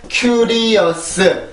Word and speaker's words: curious: 자, 이 단어는 삼음절입니다. 삼음절. 그죠? 우리나라는 curious, curious 이렇게 사음절로 쓰는데 여기에 있는 S 발음 때문에 그래요. 그래서 사음절이 되는 거예요.